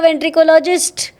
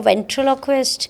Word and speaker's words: ventriloquist: say they'll say oh you're a ventricologist so I'm like I sound like a doctor and I yeah that's exactly what I am and then there are third kind of people who pronounces it even better than I can like oh you're a ventriloquist you mean sashi